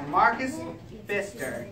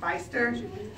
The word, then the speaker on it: Pfister: It's by Marcus Pfister. Pfister? The P is silent.